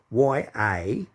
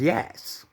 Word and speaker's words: Yass: ten is called yes y-a-s-s and he calls it yas so the pronunciation is yes not yas and same as wagga